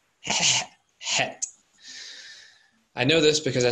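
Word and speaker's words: חית: That letter should be pronounced as Het.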